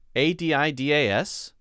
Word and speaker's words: Adidas: we have adidas and when we say that we say a d d we emphasize that one so the first one is uh uh uh it's almost what we call a schwa sound put it up there it's almost what we call a schwa sound which means we don't stress it right uh uh uh uh it's kind of a neutral sound and then d d is